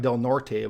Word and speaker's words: Del Norte: with up in the northwest corner this is delnort County it looks like Del Norte but it's pronounced delnort has about 27,000 people and the